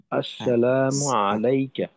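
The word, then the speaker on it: السلام عليك: একটু বাদ পড়ে গেল প্রথমত হল আসসালামু আলাইকা সিনের উচ্চারণটা আরেকটু স্পষ্ট আসসালামু আলাইকা আসসালামু আলাইকা আচ্ছা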